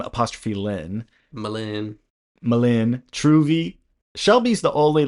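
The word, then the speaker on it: M'Lynn: It's spelled Ouiser, bourgeois. And then there's M. Lynn, which is M apostrophe Lynn. Malin.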